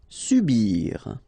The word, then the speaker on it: subir: Subir. So when you start a word normally with S here, it's quite strong. So it's subir.